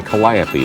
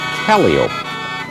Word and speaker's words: calliope: Here's the steam calliope wagon. I was about to say calliope, but the proper circus pronunciation is calliope. You know, I'm glad you brought that out because I used to say calliope all the time, and I was wrong.